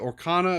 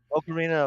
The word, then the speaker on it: Ocarina: Orcana of Time, or Ocarina of Time.